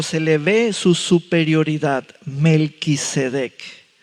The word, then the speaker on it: Melquisedec: Melquisedec. Hay quienes lo pronuncian Melecedec, Melquisedec. Hay cuatro atributos de ese hombre.